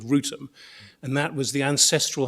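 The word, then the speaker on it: Wrotham: Well, it doesn't rhyme with Gotham. We think it rhymes with Rutum, and is Rutum, in fact.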